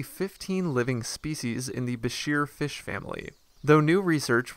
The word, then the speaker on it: bichir: how the name bashir should be pronounced the pronunciations range from besher to bicker and biker but we're sticking with bashir since that's what wikipedia says is right beshears